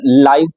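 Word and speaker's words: live: यहाँ हम इसको लाइव पढ़ेंगे, लिव नहीं पढ़ेंगे, ये स्पेलिंग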